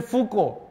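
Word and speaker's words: Foucault: of these philosophers so like Michel Fuko written f u c a u l t all same people particularly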